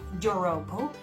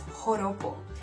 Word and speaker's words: joropo: The joropo, bear in mind that J in there is pronounced as an H, okay? So it's not joropo, it's joropo.